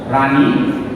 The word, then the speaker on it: রানী: কিন্তু যদি আমরা উচ্চারণ করি, আমরা উচ্চারণের সময় সবসময় রানী দন্তান্বয় রশ্মি উচ্চারণ করে থাকি।